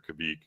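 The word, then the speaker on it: kveik: of yeast that's often referred to as Quebec or Kabig or I've heard like three other pronunciations I like Quebec I think Quebec is what I always hear.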